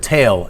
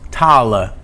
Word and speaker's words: tail: So, for example, the word tail and name, those used to be pronounced tala and nam. So the E was pronounced as a schwa in Middle English.